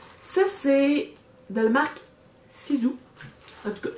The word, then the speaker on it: Sisu: Ça, c'est de la marque Sisu. En tout cas, je sais pas si eux ils prononcent comme ça, mais moi oui, parce que un S en 2 voyelles, ça fait Z.